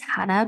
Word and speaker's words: Jana: multiple businesses yeah so my name is Hannah but it is spelled with a J so I'm just saying